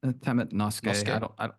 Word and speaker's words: temet nosce: not sure how to pronounce it, but Latin, temet nose. Is that how to pronounce it, Brett? Yeah, temet nosce.